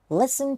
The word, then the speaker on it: listen: นะ listen to me listen to to me Listen เนี่ย ไม่ ออก เสียง ตัว T นะ ฮะ เลย อ่าน ว่า Listen Listen แปล ว่า ฟัง นะ